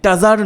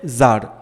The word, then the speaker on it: tsar: টাজার নয় উচ্চারণটা, কিন্তু TSAR, টি আছে বলে টাজার নয় উচ্চারণটা।